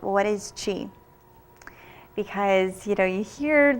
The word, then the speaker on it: qi: talk called what is chi because you know you hear the word chi and you'll see it spelled you know Qi and it's pronounced Chi and people think you